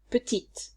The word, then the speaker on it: petite: Petit, petite.